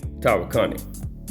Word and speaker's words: Tawakoni: Now that's how you pronounce the name, Tawakoni. But even though it's Tawakoni, a lot of people say Tawakoni. I make fun of people saying Tawakoni because it's Tawakoni.